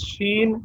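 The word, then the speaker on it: شين: the next letter is sheen sheen as you pronounce sugar though i mean sha of sugar is used in pronouncing sheen very good very good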